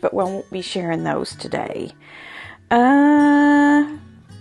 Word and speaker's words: Noemi: Nomi? Now, I know that her name is spelled N-O-E-M-I, which in Spanish is Noemi, but her Instagram is called Nomi Sews, and that is K-N-O-W underscore M-E underscore S-E-W-S.